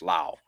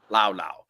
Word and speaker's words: Laos: You don't pronounce the S. Actually, it's Lao. Yeah, we pronounce the S, but they don't. Lao.